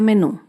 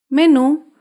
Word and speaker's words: menú: última sílaba por ejemplo la palabra menú menú se acentúa en la última sílaba menú las palabras agudas llevan